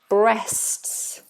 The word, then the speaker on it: breasts: Breasts. Important that we articulate the tongue properly for this. Breasts. You have an STS.